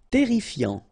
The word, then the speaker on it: terrifiant: Terrifiant. Final T not pronounced. Double R here, so it will open the pronunciation of your E, and then it will be E.